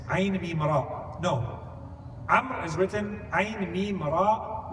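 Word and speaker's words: عمرو: Amr is written Ayn Mim Ra Waw. There's one more letter at the end of the name Amr in Arabic that's not pronounced.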